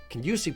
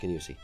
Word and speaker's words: Kingussie: Kingussie pleating is actually pleated the other direction, so